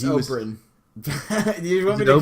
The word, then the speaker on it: Oberyn: So when Oberyn Martell, and correct me because I'm no good at these names, so if I'm saying it wrong, okay, It's Oberyn.